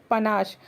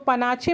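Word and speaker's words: panache: पनाश था उसके अंदर पनाश इसको पनाचे मस प्रोनाउंस कीजिएगा यह पनाश होता है स्टाइल माया वाज द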